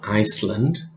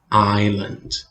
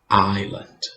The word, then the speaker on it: island: good pay attention here you have an s there but you don't say it okay that s is silent it's not iceland okay no no no